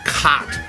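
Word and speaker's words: Chott: __ ] it's pronounced cot the CH at the beginning of the word c-h-o-t-t it makes a k sound like uh Christ or chronic you know whatever you're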